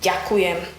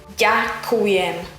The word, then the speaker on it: ďakujem: The word thank you in Slovak language is ďakujem. Ďakujem. Ďakujem. Ďakujem. Ďakujem. Ďakujem. If the pronunciation of the word ďakujem is a bit